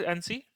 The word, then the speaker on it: ANSI: This is NC. I pronounce this as NC. So there could be multiple terms to use, call it. So I just call it as NC.